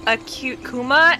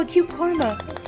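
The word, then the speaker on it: AcuteKuma: mispronunciation aside from like the Europeans calling me Karma because that's just Karma yeah I get that all the time they're like oh a cute Karma oh but I've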